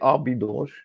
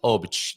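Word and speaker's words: Óbidos: They'll understand you if you say ah bidos, and saying it that way is correct phonetically, but it's not how the Portuguese say it. So it's beach, and then you just kind of taper off at the end. You get to that last consonant, you don't need to worry with the oosh so much. So just go shh, and you're done.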